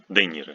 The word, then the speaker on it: De Niro: The is not softened. De Niro. You memorize in Spanish, Italian, French names with this prefix de or preposition. Ye doesn't soften the preceding consonant. It's pronounced e after a hard consonant.